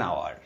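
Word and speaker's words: hour: এখানে সাইলেন্ট আছে আওয়ার এইচ এর উচ্চারণটা এখানে সাইলেন্ট আছে তাই এন আওয়ার ভিডিওটি কেমন লাগলো ভালো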